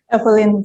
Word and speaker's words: Eifeline: Kemudian yang kami banggakan, Ibu ini bacanya mana? Evelyn atau Ibu Evelyn? Evelyn, Pak.